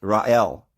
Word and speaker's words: Rachel: And then there is the Ra-El, or the Ra-Shel, Ra-El. And yes, we've done videos on that the C there is not necessarily to be pronounced. It's Ra-El.